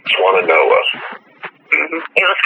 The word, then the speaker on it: Swannanoa: Swannanoa. Swannanoa.